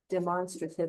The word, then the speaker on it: demonstrative: Put demonstrative on here too. Just put demo. Not constructive. Demo. Demonstrative. That's how you say it. It sounds like you're saying monster. Demonstrative, but think of demonstrate.